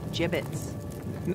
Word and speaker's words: gibbets: look Avery had some gibbets leftover gia Vince what pronounced jib it's are you sure yeah